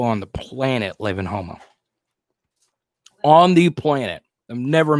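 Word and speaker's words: Houma: Some of the nicest people on the planet live in Homa. On the planet. I've never met like an a-hole from Homa. Never. Every single person I've ever. And Jordan still, you know. Yeah. Not Homer.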